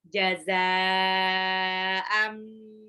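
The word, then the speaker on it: جَزَاءً: Jazaa'an, zainya itu mad wajib mutasil karena ada harokat alis bertemu dengan hamzah dalam satu kata, dibacanya 6 harokat.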